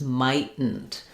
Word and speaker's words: mightn't: But if you wanted to use it, and how it would be pronounced is mightn't. So we'd not let that T out. And then we do basically two unreleased T's.